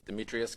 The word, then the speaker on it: Demetrios: the show now you said it right it's demetrius where are you from i was born